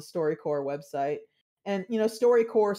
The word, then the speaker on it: StoryCorps: And, you know, StoryCorps spelled like corpse, C-O-R-P-S.